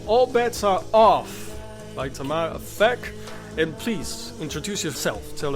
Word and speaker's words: Tamar Aphek: And we got the author and the artist, Tamar Aphek, with us. Hi, Tamar. How's it nice. going? You pronounced it really well, I must say.